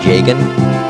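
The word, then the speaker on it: Jagen: I pronounce it Yagen. Some people might say Jagan. I say Yagen.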